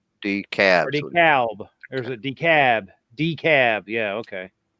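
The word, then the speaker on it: DeKalb: um so yeah so wield do you actually pronounce the L in decab is it decab or decal decab decal or is it decab decab yeah okay decab the Cab County yeah decab like hell that's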